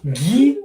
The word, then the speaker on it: gi: Oh, gi, you pronounce it as G-E-E? Really?